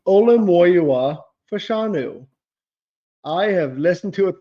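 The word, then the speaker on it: Olu Fashanu: him say his name so many times it's olua fanu I have listened to it three times since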